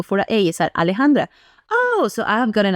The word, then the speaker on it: Alejandra: is literally saying like uh how do you pronounce that like Alejandra like a l e j a n d r a Alejandra or you can just do Alexandra but